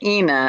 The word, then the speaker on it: Ina: she i think she's destined to get her name pronounced wrong on many occasions in this lifetime rhymes with tina ina i think i got